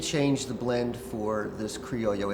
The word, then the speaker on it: Criollo: I almost said creo cuz a lot of people So it's pronounced creoyo, not corollo, right? In Spanish the double L is a Y and actually it should be Cooo.